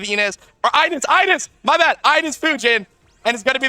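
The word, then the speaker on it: Ines Fujin: How do you pronounce it? Enes Fujin. My bad, boss. All right, I got it. Enes Fujin.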